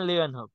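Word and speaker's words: Leeuwenhoek: Sir Anthony van লুয়েন হোক, Antony van লিওয়েন হোক।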